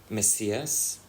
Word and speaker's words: Messias: And when they came to Brazil, they changed to an S, Messias, as it's pronounced in Portuguese.